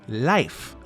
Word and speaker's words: Leif: However, we pronounce it very differently. We say Leif, as in Leif Erikson, one of the most famous Norwegian explorers in history.